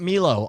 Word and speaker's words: Milo: All right, look, we got Milo on the line. M-I-L-O, I say Milo, you say what? Milo? Yeah, you're saying it wrong. It's Milo, starting now.